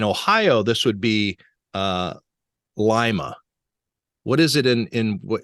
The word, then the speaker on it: Lima: this on Twitter but that's honey Falls Lima that's how I've always said it Lima okay well Ben rothberg's hometown of Lima Ohio gets mispronounced a lot